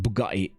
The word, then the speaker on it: Bugatti: It's pronounced Bugatti.